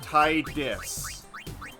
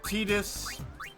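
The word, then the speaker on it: Tidus: course all right now there are so many different ways people pronounce the character I'm just going to go with the way I've always pronounced them my character's name will be tiis people pronounce it tetus people pronounce it Titus I'm going to solve the debate right now and call my character Titus Feel free to yell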